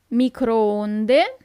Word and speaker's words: microonde: The microwave, microonde. Remember that the double O is not that common at all in Italian, but when you see it, it's not U as in English, but it's a long O.